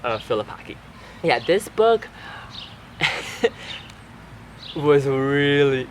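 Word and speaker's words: Filipacchi: so it's not pronounced Philipi it's this has like a different pronunciation when you're reading it in French so since she's French is pronounced philipak yeah this book was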